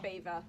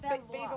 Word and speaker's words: Belvoir: How do you pronounce that? Belvoir. Ah. Beaver. Hunting, Beaver? hunting It's with the beaver beaver. watch. It's Not Belvoir.